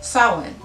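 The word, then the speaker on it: Samhain: halloween was formerly known as a celtic holiday salon it's spelled differently i know but just go with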